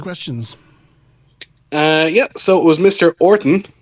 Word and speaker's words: Orton: Orton, no letters, or no H, in case you think I'm mispronouncing it.